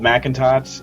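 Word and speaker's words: Mcintots: have spelled it because it doesn't spell like i pronounce it because i'm an idiot but um it's uh m c i n t o t s at smack jeeves dot com it's called macintosh and it's about uh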